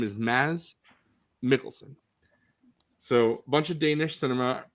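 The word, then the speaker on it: Mads Mikkelsen: his name is not Mads Mickelson. His name is Maz Mikkelson. D is silent and the K's are pronounced like G's. So, his name is Maz Mikkelson.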